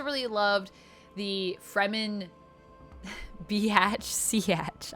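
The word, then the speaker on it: Sietch: I have to say it like that so I remember how to say it. I saw that on Reddit. Someone was trying to say, how do you say Siatch? And they were like, Siatch, Biatch.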